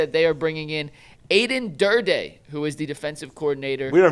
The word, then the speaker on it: Aden Durde: And Earl says it's dirty, like dirty. How it's pronounced. Yeah. So Aden Durde. Aden Durde.